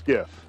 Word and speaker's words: GIF: I know the critter said GIF, but the G is graphical, so it's a soft G. Choosy mom's choose GIF.